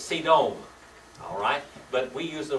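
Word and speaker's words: סדום: solder all right Sodom yet actually in Hebrew it's C dome alright but we use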